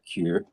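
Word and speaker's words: kyu: got like the actual Q grades which is like red through brown are you know just Q grades it's spelled KY YU but they pronounce it Q and and after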